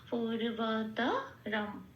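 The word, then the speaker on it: পূর্বতরম্: আছে ময় হসন্ত দিয়ে প্রতিস্থাপিত হয়ে শব্দটা পাব পূর্বতরম এটা আস পরব কৃতম কয় আছে ত আছে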